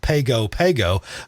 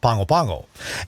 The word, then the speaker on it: Pago Pago: the capital city there it looks like it's spelled pago pago but in samoan it's pronounced pangopango and we have a